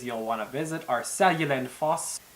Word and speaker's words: Seljalandsfoss: for you to at least know how they're pronounced before going. Some of the most common places you'll want to visit are Seljalandsfoss, Gullfoss, Reykjavik, Vik, probably one of the harder ones to say, Jökulsárlón.